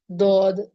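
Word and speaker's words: ضاد: do this letter is this letter is pronounced from the sides of the tongue the sides of the tongue the side of the tongue will be touching the upper Ms now you might be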